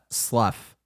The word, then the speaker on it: slough: It should not be spelled that way. SLUFF. That is my spelling of slough.